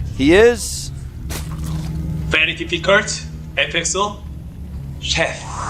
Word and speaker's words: Sheth: Very difficult for Koreans to say his name. Yeah. They don't have the TH sounds. Yeah. Or the SH sounds. Exactly. They do have to say like Sheth, kind of like that.